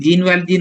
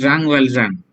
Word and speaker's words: Jean Valjean: Malayalam Jean Valjean എന്നാണ് പറയുന്നത്, but the French pronunciation is Jean Valjean.